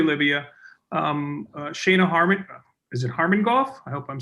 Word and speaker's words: Harmon-Goff: Shayna Harmon, is it Harmon-Goff? I hope I'm saying that correct. You said it right. Thank you so much. Shayna, right. Stephen. No worry about Yes, yes, you said it right. It's Shauna Harmon-Goff.